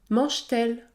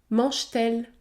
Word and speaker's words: mange-t-elle: t répond-t-il ou encore mange-t-elle mange-t-elle le T se prononce t mange-t-elle 8è cas la liaison